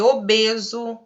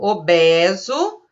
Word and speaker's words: obeso: Segundo as normas gramaticais, a gente deveria pronunciar com E aberto. Obeso, coeso, obsoleto. Mas a gente não faz essa pronúncia, né? Segundo obras, né? Segundo escritores mais antigos, a gente deveria pronunciar com E aberto. Deveria ser obeso, coeso, obsoleto. Mas a gente fala obeso, coeso, obsoleto. A gente usa o E fechadinho.